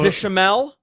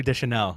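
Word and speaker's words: Deschanel: say her name wrong zoe deschamel zoe de chanel it's there's an n there's an n d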